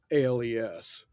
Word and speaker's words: Pedernales: I'm used to Pedernales Falls, and Pedernales Falls is spelled Yeah, Predenales.